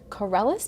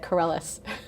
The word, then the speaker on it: Karelas: And Andreas Karelas, did I pronounce that right? That's right. Okay, good. I'm thinking of Steve Carella, but Karelas. Exactly. Similar sounding.